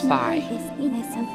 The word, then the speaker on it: Fi: This entity is known as Fi. Yes, that is how you actually pronounce her name.